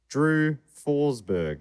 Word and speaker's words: Forsberg: for you all also the first syllable in my last name is pronounced fours not force drew forsberg sorry drew and thank